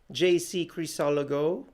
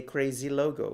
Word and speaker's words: Crisologo: And for those of you who don't know my name is JC Crisologo, or as some people here in the US who can't pronounce my name, they say Crazy Logo, which I love.